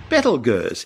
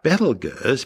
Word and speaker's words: Betelgeuse: Now, although I'm calling the star Betelgeuse because that's the most popular way astronomers pronounce its name, it's also commonly called Betelgeuse.